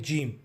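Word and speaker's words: ج: जीम को उच्चारण करने के लिए आपको अपने ज़ुबान को मुंह के ऊपरी भाग में लगा के कहना चाहिए जीम, जीम. इसका उच्चारण अंग्रेज़ी अक्षर जे, हिंदी अक्षर ज और तमिल अक्षर ज की तरह ही है.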